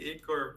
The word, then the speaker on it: Igor: sheor oh my God Igor and sheor English speakers always do that they always want to pronounce the age said no it's just like the the russan eor you know just say eor please yeah CU we don't